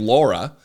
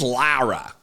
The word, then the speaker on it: Lara: an email saying hey don't pronounce her name Laura my name's Laura she's Lara so right I hear you la Lara Trump Lara Trump Lara I